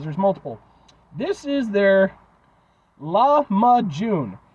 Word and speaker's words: lahmacun: those rather cuz there's multiple this is their laama June it's spelled l a m or l a h